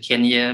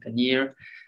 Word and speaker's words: Kenyir: from cairns to kenya some people pronounce it kenya but actually paneer and why i can